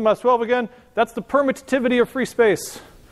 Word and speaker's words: permittivity: That's the permittivity of free space. You only pronounce one of the T's, but I like to pronounce both T's. It helps me remember how to spell it.